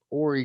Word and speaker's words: Horry: very interesting information on this case out of horry county horey county let me pronounce that correctly here as a transplanted south